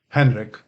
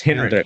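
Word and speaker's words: Henryk: named after major and Henry with a K how do you say that Henrik just Henrik okay Henrik dooski dumki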